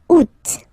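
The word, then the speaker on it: août: Second one you pronounce it oot.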